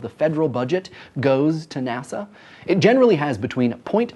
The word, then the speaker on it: NASA: and Space Administration is an acronym by the way not an initialism because we pronounce it NASA and not and a SS today around 18,000 people